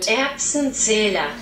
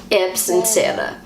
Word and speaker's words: Erbsenzähler: And the word that they use in German to describe a person like this is an Erbsenzähler. This is how Google pronounces the word. Erbsenzähler. Erbsenzähler.